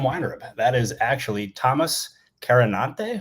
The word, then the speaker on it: Carannante: Oh, there's Kariente, there was, there, you know, I could I could go on for it would take up the whole podcast episode.